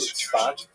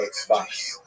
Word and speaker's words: Tzfat: And that is the incredible explosion of spiritual, literary, religious activity that occurred in the northern Israel city of Safed, pronounced in Hebrew Tzfat or Tzfas.